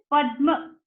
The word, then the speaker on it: Padma: see the and ma, so whatever is up, it is spoken first, and whatever is down, it is spoken later. Okay, and whatever is up, it is half, and whatever is down is full.